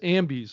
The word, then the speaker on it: Ambies: It's AMBIES is what the AMBIES.